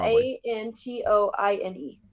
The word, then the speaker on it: Antoine: Antone. I think that's how you say it. That's a pretty picture. Anton? Anton. Anton, A-N-T-O-I-N-E. Oh, Antoine.